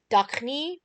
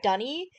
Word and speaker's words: D'ni: The only reason Escher says Duchny instead of Dunny is because that's how David Ogden decided to pronounce it. He just saw the apostrophe in Dunny and thought, I'm going to pronounce it Duchny.